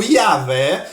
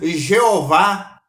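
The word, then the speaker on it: Yahweh: este tetragrama sagrado que estamos agora pronunciando como yavé que é uma pronúncia mais aproximada ali do seu original ele é formado como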